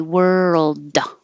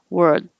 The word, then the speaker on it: world: can be heard because you don't need to really pronounce the d and say world you don't have to say da you can just hold it there but if you don't hold it long enough word then you don't hear the